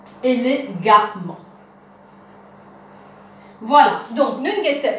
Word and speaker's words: élégamment: Et ici, nous enlèvons ANT, nous vous mettons A-M-M-E-N-T, et les pouvines, élégamment.